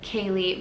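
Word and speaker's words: Kalie: Now, the next name is the name Kaylee, but this one is spelled K-A-L-I-E, which is a very rare spelling.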